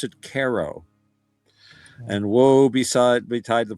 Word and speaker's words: Cairo: C A I R O. But they pronounce it KO.